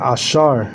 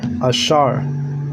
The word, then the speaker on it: Asher: And you say Ashar. Ashar.